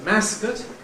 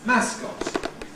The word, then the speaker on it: mascot: word spelt like this, I call this a mascot, but there are people who call it a mascot. Now, right, this is spelling pronunciation, this is the influence of the spelling, but either way around, it ends up to say you can have a strong mascot or a weak mascot.